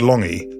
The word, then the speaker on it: Lange: In South Auckland, you don't have to go around explaining why your name, which is spelled Lange, is pronounced Lange.